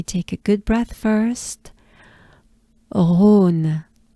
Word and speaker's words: Rhône: Rhône. Just a breath. Aune. Right? And we take a good breath first. Rhône.